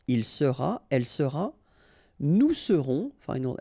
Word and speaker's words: serons: Je serai, tu seras, final S not pronounced, il sera, elle sera, nous serons, final S not pronounced, vous serez, a Z at the end, et serez, ils seront, final T not pronounced, elles seront.